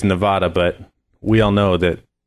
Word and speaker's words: Nevada: What's the proper way to pronounce our state? Nevada.